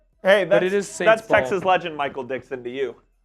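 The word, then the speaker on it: Michael Dickson: Hey, that's that's Texas legend Michael Dixon to you. Oh, I said his name wrong. I'm sorry. Michael Dixon.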